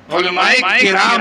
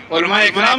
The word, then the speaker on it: علماء کرام: علماء اکرام نہیں, علماء کرام, علماء کرام. تو صحیح تلفظ ہونا چاہیے.